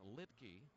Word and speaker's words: Luetge: New pitcher for Atlanta, the left-hander Lucas Litke. Spelled Luetge, but pronounced Litke.